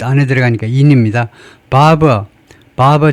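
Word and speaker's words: Barbour: 바버 바버 자 바버는 발음을요프 like바이 이발사하고 똑같이 발음을 하라고 나와 있네요.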